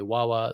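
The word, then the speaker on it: Hua Hua: If you don't know her, her name is spelled Hua. Wawa Zong.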